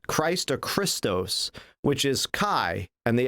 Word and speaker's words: chi: letter of um christ or christos which is chi and the x is the letter chi is pronounced chi and then the next letter is ro and